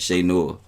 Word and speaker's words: Che Noir: i enjoy shay more right period so salute shay noah or shea nour how you say it shay noah if you saying it properly if you from